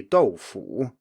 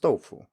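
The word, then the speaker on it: 豆腐: So if you take a word like doufu, if you were to pronounce it with full tones, it would be doufu with a third tone, but that's not how it's listed in most dictionaries, there is just doufu.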